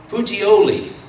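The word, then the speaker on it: Puteoli: to pronounce it correctly this is uh putioli that's it i just heard the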